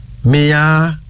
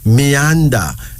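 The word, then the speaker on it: Miyanda: Our third female name is Meanda. That's Meanda. M-I-Y-A-N-D-A. Meanda, meaning roots.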